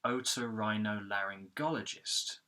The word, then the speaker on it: otorhinolaryngologist: So we've got the primary stress of this word, which is on the go syllable, otorhinolaryngologist, okay?